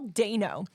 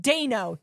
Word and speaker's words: Dano: And I'm just like, ooh, Paul Dano's in this? I love him. Yeah. And I'm on my eternal crusade that people know his name is pronounced Dano, Day, not Dano.